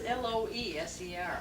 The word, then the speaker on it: Loeser: Loser, in German it's Loser. L-O with the umlaut over. Loser. And you change it to an E in America, L-O-E-S-E-R, but there's L-O with the umlaut S-E-R, loser.